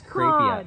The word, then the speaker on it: Crapia: It's Crapia.